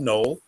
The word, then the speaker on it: Nohl: Nohl, of unusual spelling, but it's pronounced Noel Williams.